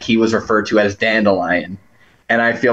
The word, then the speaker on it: Dandelion: listened to the audiobooks they pronounce it dillian Dan dillian is like the first couple books and then they correct it to dandelion that's almost as fast